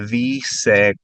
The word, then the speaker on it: dice: ¿Cómo se dice car en español? Did you notice that D on the dice sounds like a TH? When you say it after the E in say, it turns into a TH.